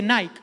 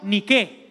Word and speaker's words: Nike: griego la marca Nike no se dice Nike Esos son los gringos que no saben hablar se dice en griego ni qué ni Qué es la Diosa de la Victoria la diosa ni qué ni quedemos significa la